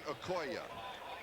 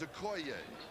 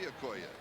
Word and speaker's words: Okoye: Over the years, you have heard this man's name pronounced Christian Okoye. We asked him yesterday because we heard that we had been pronouncing it wrong. He says, yes, he says everybody has. The correct pronunciation is Okoye. So hopefully from now on it will be Okoye.